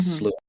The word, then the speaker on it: slough: And it was Connor realizing his failings with his older son, which cost him his son's soul in the terms of the slough that came for him.